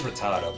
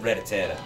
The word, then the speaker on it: Rattata: I'm not sure it is Rattata but I always thought I always said Reta I don't know why